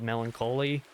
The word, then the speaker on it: Melancholy: Swallow the Sun released a song called Melancholy, and I pronounce that weird because it's literally melancholy, but instead of ending with the O-L-Y of the word, it's literally the word holy stitched in there.